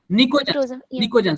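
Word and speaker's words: pnictogen: निकोजन वो पी P silent होता है।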